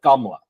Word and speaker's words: Kamala: And so in my household, because we're Indian, we pronounce it Kamala, and because that's I've even got a Kamala, and I've got a Kamala in my family.